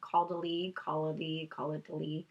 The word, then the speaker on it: Caudalie: Caudalie.